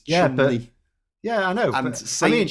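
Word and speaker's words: Cholmondeley: Chumley. Chumondley is Chumley.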